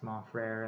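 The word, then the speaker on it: Mon Frère: There's Mon Frere, the square, and I was worried Katie wouldn't. I don't know if she would know how to pronounce Mon Frere and that it would rhyme with square.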